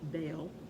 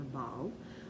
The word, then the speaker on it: Baal: the Canaanites, which was Baal or Baal. I prefer to pronounce it Baal. According to some Bible dictionaries, it can be pronounced either way, so you got Baal with me.